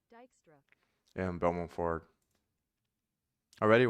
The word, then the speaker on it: Dijkstra: So I'm going to do Dijkstra, according to this, the pronunciation, Dijkstra.